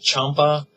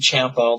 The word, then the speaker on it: Champa: all-time favorite scents nag Champa um and um yeah that's the way it's pronounced don't feel bad because I used to say champ all the time too but it is pronounced Champa um I used to